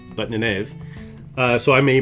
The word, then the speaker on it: Nynaeve: Nynaeve, who I always pronounce reading the book as Nynaeve, but Nynaeve.